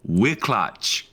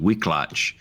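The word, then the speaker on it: Wiklacz: Patchy Mix for Yakub Wicklatch. Wicklatch. I think I did pretty good there. That's probably wrong, but it's W I K L A C Z. Wicklatch. That's my guess for the Polish pronunciation.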